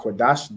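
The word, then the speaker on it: קדש: I mean, qua is singular, and then the da and sha are joined. So that becomes dash. Right? So makwa ra'ah Qadash, that's what you just wrote down.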